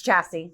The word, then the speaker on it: Chasse: butchered the last name it's chassis chassis okay that's what I